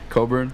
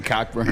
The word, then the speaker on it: Cockburn: no how do you how does he pronounce it coburn coburn yeah why doesn't he just change it kofi coburn no one's ever to call you that other than him because i don't want to say cockburn yeah for real but